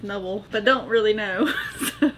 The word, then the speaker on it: Nubble: N-U-B-B-L-E. You pronounce it the way you want. I think it's Nubble because you put a B instead of an N as a bubble, so.